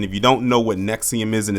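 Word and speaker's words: NXIVM: And if you don't know what Nexium is, and it's spelled NX IVM, it was basically uh a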